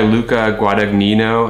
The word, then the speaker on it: Luca Guadagnino: It's directed by Luca Guadagnino, I believe is how you pronounce his name.